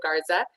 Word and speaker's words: Garza: without further ado i'm excited to welcome pablo garza am i pronouncing your last name correctly pablo yeah you